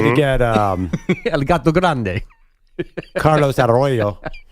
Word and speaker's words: Carlos Arroyo: Carlos Arroyo. That was pretty good. That one. That one works. Good roll of the R.